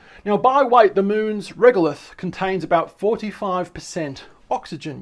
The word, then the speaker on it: regolith: say that we need to look to the regoloth how do we pronounce this one quickly pronounce that one for us regolith that was close enough so basically rock and